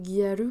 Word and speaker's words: Gyaru: Le nom Gyaru, il vient de girl, raccourci en gal, et prononcé Gyaru par les japonais.